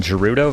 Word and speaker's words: Gerudo: I got to say, I always pronounced this one Gerudo Valley as a kid, but I realized I think because of just there's no G just sound in Japanese language, so I think it is Gerudo, but um I'm curious